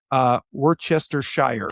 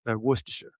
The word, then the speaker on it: Worcestershire: because you don't have to say any of the letters. 14 letters and it only comes out Yeah. 4 sounds. Well, because that's where they're from, right? Worcestershire.